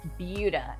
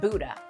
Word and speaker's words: Buda: And if you've never heard of it, it is pronounced Buda, not Buda.